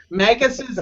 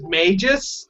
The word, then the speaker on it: Magus: like saying Chrono Trigger when pronounce magus's name as Mages I'm like no it's Magus Magus Magus yeah I've heard people say it's Mages I don't see an e in there and it's not and